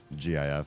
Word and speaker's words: GIF: joke is there because the pronunciations intertwin GIF for the um for the extension and JF is it JF just one f for the peanut butter they just decided to make them be pronounced the same way and it's cute schaly cute it's whatever but to say that there's a hard G there's no no there's no good support for deciding to be different than the guy